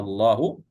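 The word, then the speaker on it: آللَّهُ: Jadi cara membacanya dipanjangkan ya Bapak Ibu ya. Allahu mad ee lazim ee mutsaqqal ee kalimi ya panjangnya enam harakat.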